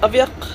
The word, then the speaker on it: Aviaq: Well, it's supposed to be pronounced Aviaq because it's a Greenlandic name that means same blood or runs in the family.